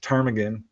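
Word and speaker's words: Ptarmigan: you know, so that's what got him interested and it's I wasn't able to find any evidence of this project Tarmagan. I think I'm pronouncing that right.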